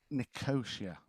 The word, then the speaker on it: Nicosia: it's Nicosia. Nicosia. Is Right. that how it's pronounced?